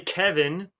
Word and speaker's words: Kevan: My name is actually Kevin, and it's spelled freaking Kevan.